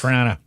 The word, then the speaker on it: Toronto: Yes, Trana. Yes. No O's.